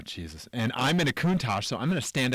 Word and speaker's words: Countach: And, okay, I think for a day, I think I'm going to F the Lamborghini Countach and Okay.